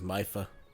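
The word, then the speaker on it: Mipha: we found out that mifa's name is not me for his mifa uh no don't i know somebody that pronounces the name as me mifa is my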